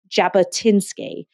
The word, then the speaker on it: Jabotinsky: I can't going to be absolutely butchering the pronunciation so very very sorry I think it's a Zev Jabba tinsky and Jabba tinsky wrote an essay called the